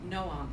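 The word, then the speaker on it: Noam: she asked slightly annoyed no um spelled an O am but pronounced as two syllables it's nice what does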